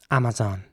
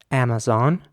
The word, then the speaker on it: Amazon: Amazon. With the A at the beginning is pronounced like an R, and the A in the middle as well. And the zon at the end is quite soft.